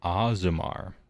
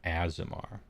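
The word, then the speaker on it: Aasimar: I learn here is I was kind of pronouncing it wrong supposedly it's aimar not azamar I'd always called them azamar I guess they're azamar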